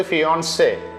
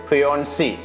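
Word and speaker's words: fiancée: കാലം പറഞ്ഞത് സ്കൂളിൽ വെച്ച് ടീച്ചർ പഠിപ്പിച്ചു തന്നത് ഫിയോൺസെ ഫിയോൺസി എന്നിങ്ങനെയാണ് പക്ഷേ പ്രതിഷ്ഠത വരൻ വധു എന്നർത്ഥമുള്ള രണ്ടിന്റെയും ഉച്ചാരണം ഫിയോൺസെ എന്ന് തന്നെ പിന്നെ മലയാളികൾ ഏറെക്കുറെ നേരിടുന്ന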